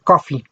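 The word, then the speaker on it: Coffey: que protagoniza a john coffee el nombre visión confirmaran suena como el café pero se escribe diferente y creo que es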